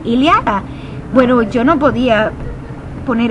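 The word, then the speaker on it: Ilíada: leada y liath bueno yo le decía de ilayad porque porque yo pensaba que se pronuncia Esa esa segunda y se pronunciaba Ay entonces yo decía y en vez de iliada y mi esposo me decía no se dice sí se dice casi como iliada Bueno yo no podía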